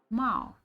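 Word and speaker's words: 猫: And you remember, however, that it's pronounced Mao. Mao in pinyin.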